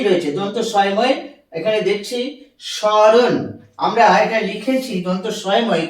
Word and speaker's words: স্মরণ: দন্ত স্বয়ম এখানে দেখছি স্মরণ আমরা এটা লিখেছি দন্ত স্বয়ম কিন্তু ম কে উচ্চারণ করছি না আমরা এটাকে বলছি স্মরণ এইটা এইটা উচ্চারণ করছি